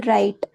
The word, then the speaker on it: write: For example, write. So, here W is silent and we need to pronounce it as R I T E.